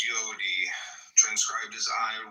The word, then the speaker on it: Yod: Comment on yod y pronounced yodi transcribed as I y the number 10 meaning creative and the intelligence of the will.